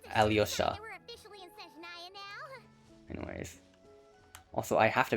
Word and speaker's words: Alyosha: In the trailer, it's pronounced like Alosha or something. In the pronunciation videos, they were pronounced as like Alyosha.